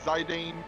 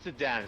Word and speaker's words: Zidane: A lot of people are saying Sidan, honey. Zidan. Okay. Not Sidan.